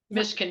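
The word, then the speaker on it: Mizkan: z k yes zero misin misin is the way you pronounce it m i z k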